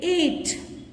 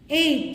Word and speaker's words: eight: 8. 8. See here also GH is silent.